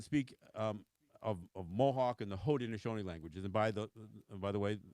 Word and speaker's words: Haudenosaunee: We say Haudenosaunee. In Mohawk, we actually say Rudenosaunee. We actually begin it with what you would say phonetically as an R instead of an H.